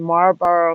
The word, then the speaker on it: Marlborough: that took place in marlborough massachusetts like the cigarette but it's spelled m-a-r-l-b-o-r-o-u-g-h we have several burrows um in